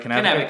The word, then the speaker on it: Cannabica: That's how you pronounce it, right? Cannabica.